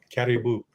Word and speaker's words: Karibu: Caribou. Caribou. Caribou. Like like caribou. Like the northern, it's pronounced almost the same way as the northern animal, except it's spelled much differently.